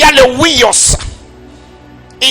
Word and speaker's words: huios: Huios qui s'écrit comme H-U-I-O-S.